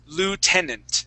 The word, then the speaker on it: lieutenant: yeah so this is you're gonna throw all pronunciation rules right out the window okay so this word is l Lieutenant Lieutenant lant tenant Lieutenant Lieutenant there you go